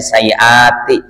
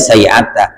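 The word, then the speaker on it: سيئات: Giliran dikit lagi wa'lam anna sayyati, karena ini jamak ya, jadi bacanya sayyati. Kalau dia kagak jamak mufrad bacanya sayyata.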